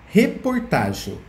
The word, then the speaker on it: reportagem: vamos ver a próxima reportagem reportagem reportagem tem 4 sílabas a sílaba mais forte é o Tá mas nesse caso essa